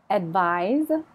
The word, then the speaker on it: advise: thing it's a noun advise is a verb notice the Z sound advised advice I'd like